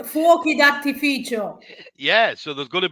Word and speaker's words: fuochi d'artificio: On Saturday night, there's going to be Fiocchi di Artificio. Is that, am I saying it right? So on Saturday, fuochi d'artificio.